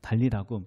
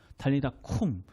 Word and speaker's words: 달리다굼: 뭐라고 하면서 이렇게 아시나요 다 나왔다는 아니고 다 나았던 아니고 달리 다 궁이라고 해요 달리다굼 무슨 뜻이냐면 달리다가 소녀라는 뜻이고 쿵이라고 발음하거든요 달리다 쿵 쿵은 일어나라라는 뜻을 가지고